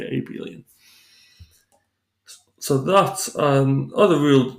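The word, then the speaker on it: abelian: then then we say the group is Aon soorry I may be massacring the pronunciation there I'll spell it for you hear it's named after a Scandinavian mathematician called AEL so maybe abilon so that's an other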